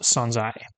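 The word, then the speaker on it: 存在: We can see from the furana that the this word is pronounced sonzai.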